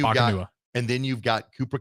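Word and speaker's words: Nacua: Somehow you get three syllables and four letters. Paco Nakua. Pakanua. There we go. That's what it is. Pakanua.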